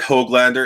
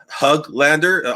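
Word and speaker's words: Höglander: yeah he is right it's not uh it's not hoglander it's there's it's or hoglander it's hug lander almost hug but not quite there yet uh i just try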